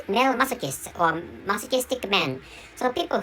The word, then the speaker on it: masochist: pronounced I pronounced or I frequently pronounced M masochist instead of masochist which is a correct pronunciation of of masochist so such such a